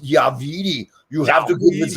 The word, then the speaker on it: WeeDE: Listen, Vince, it's pronounced WeeDE.